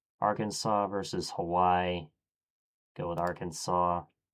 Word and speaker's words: Arkansas: Go with Arkansas. It's pronounced Arkansas, not our Kansas.